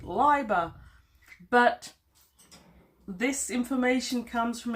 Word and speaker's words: Leiber: conversation about Fritz and after having pronounced his name Libra for my whole life I'm told that apparently I'm meant to pronounce it Liber but this information comes